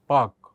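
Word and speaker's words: Palk: पाक हिंदी में इस तरह से लिखा जाता है पाक जलसंध और इंग्लिश में लिखा जाता है पी ए एल के। एल इसमें साइलेंट रहता है।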